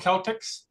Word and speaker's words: Celtx: It's called Celtics. It's not just because I'm a Celt, but it's called Celtics, and it's spelled CELTX, and it's cross-platform, so it's Windows, Mac, and Linux.